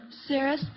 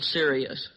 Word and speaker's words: Sirius: Cirrus, the dog star. What is that again, honey? Cirrus. Well, you're on the right track. Let's see if we can clear that pronunciation up. Lonnie? Well, Sirius.